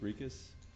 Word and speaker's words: Rikas: insisted on, and I didn't catch her last name pronunciation correctly, so I mispronounced it introducing you tonight. Rikas? That's right, okay.